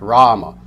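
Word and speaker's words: Rāma: you have Rama now you'll see the first day is long the second a is short Rama this is referring to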